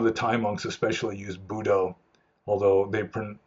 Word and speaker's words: Buddho: A lot of the Thai monks especially use Buddho, although the Thais, I think they pronounce it Butto or Putto.